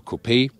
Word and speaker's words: coupé: grille whereas the jeely coupe or coupe a we always say copy because we lean to the French original pronunciation there's also a separate